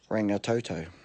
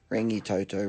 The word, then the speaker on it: Rangitoto: dot dot all right on the radio yesterday I heard a woman pronounce their place is with a extra a denoted two A's in it so she said ring no toto anyway you were just running a ring a Toto rangitoto ring you two toes